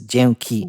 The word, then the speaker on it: dzięki: The It's easier like- version has just two syllables. Is dzięki. Janky.